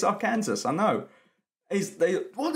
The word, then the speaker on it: Arkansas: college I didn't know that Arkansas was not pronounced Aransas so I was at College I was like hey I'm from our Kansas and this guy from Arkansas was there he